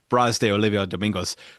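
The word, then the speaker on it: Brás de Oliva Domingos: And she looked at it and she said, basically like it was one word, Bras de Olivia Domingos.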